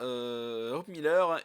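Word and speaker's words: Hope Miller: terrible accident hop Miller c'est important de prononcer le H n'a hop Miller et devenu amnésique 15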